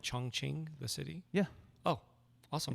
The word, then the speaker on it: Chongqing: we got taken to this point surreal because Chongqing or Chung or Chung King depending on like you know how you want to pronounce it it was a former capital and